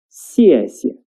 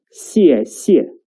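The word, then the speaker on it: 谢谢: That is, 谢谢, 谢谢. The second 谢 is a neutral tone, which is short and light. So it's like 谢谢, not 谢谢.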